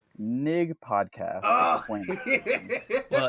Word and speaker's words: NIG: pronouncing the vowel wrong. It's not Yeah. it's I. It's NIG, short for Not Important Gaming.